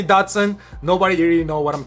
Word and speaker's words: Datsun: another interesting one is Datsun this is a tricky one that nobody seems to know how to pronounce correctly Datsun in Japanese is actually Dokdo Sun it is completely different and every time I say dr.